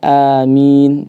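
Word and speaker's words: آمين: Bisa dibaca amin, A-nya 2 harakat, atau amin A-nya 6 ya? Bisa juga. Ataupun dibaca dengan imalah pada kata A-nya. Dalam qiraat Hamzah atau Kisai dibaca amin.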